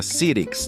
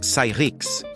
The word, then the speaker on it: Cyrix: Muita gente pronunciava Sirix de forma errada. O nome correto era algo como Cyrix, compatibilidade complicada.